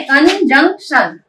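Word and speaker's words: conjunction: कन, CON होता है कन, JUN होता है जंग, सॉरी CON होता है कन, JUNC होता है जंग एंड TION क्या होगा बोलिए तो आप लोग सोचिए। अभी थोड़ी देर पहले मैंने क्या बोली थी, TION को क्या प्रोनाउंस करते हैं? TION को हम प्रोनाउंस करते हैं शन। Okay, कंजंक्शन। ओके, कंजंक्शन का मतलब क्या होता है?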